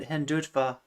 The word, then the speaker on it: Hindutva: Yeah, said just like it's spelled Hindutva.